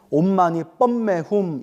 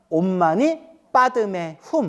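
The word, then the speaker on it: ओं मणिपद्मे हूं: 그들 은 그것 을 " 옴 마니 페메 훔 " 이라 고 발음 합니다 . 산스크리트어로 는 " 옴 마니 파드메 훔 " 이고 , 티베트어 로 는 " 옴 마니 파드메 훔 " 입니다 . 그리고 한국어 발음 으로 는 " 옴 마니 반 매 훔 " 입니다 .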